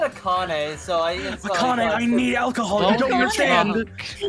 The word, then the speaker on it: AI: ai the somnium files is still on the xbox game pass and also it's pronounced i the somnium files oh really you know like your eye like a japanese word for love there's going to be